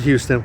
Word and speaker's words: Houston: road and houston road notice i didn't say houston because in this area although it's spelled houston we call it houston just like this is